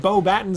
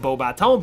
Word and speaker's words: Beauxbatons: the Durmstrang Institute and Beauxbatons Academy of Magic, which is ridiculous since that school is in France and should be pronounced Beauxbatons, but I digress.